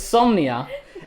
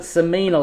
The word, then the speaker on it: Somnia: with the lovely beck i'm not going to say it wrong like i did last year it's insomnia and i called it samina last year you can find that